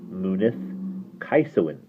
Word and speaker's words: Mynydd Ceiswyn: It's always G as in go, not as in gentle. And the Welsh W is like the oo sound in pool, nearly always. So that's why MYNYDD CEISWYN is pronounced Munith Kaisowin."